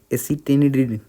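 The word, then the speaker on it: acetylene: इसको बोलते हैं एसिटिलिन, ठीक है, थोड़ा सा प्रोनाउंसिएशन दिक्कत होता है, एसिटिलिन, ठीक है।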